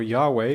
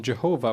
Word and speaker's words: Yahweh: source or yahwest source the j stands for yahweh or the misunderstood pronunciation jehovah which was prominent at the time and this is a